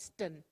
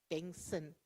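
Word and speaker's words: Bengtson: So not Ston, Bengson. The T is silent, yes.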